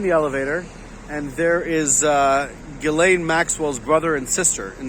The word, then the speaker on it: Ghislaine: Well, apparently, apparently it's pronounced Ghislaine, not Ghislaine.